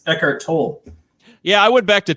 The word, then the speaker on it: Tolle: We're finishing up Eckhart Tolle's The Power of Now. How do you say his name? I've always said Eckhart Tolle, and then you told me it was Tolle, and then I'm like, Tolle, okay.